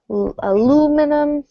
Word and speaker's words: aluminum: we have stress aluminum it's going to be the second syllable of each word so the aluminum the old linoleum and